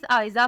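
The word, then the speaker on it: Aiza: अगला नाम है, आइज़ा फातिमा।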